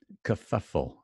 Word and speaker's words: kerfuffle: like the final one this is stress here puff puff puff this is upside down V because it's stressed kerfuffle and then this is not stressed at all very very unstressed kerfuffle kerfuffle means an argument